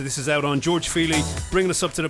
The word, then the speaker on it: Feely: This is a guy from Dublin called George Feely, and that's spelled F-E-E-L-Y, as in touchy-feely.